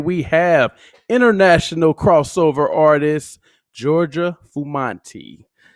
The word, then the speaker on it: Giorgia Fumanti: And tonight we have international crossover artist, Giorgia Fumanti. How you doing, Georgia? I'm doing very well. You pronounce it perfectly.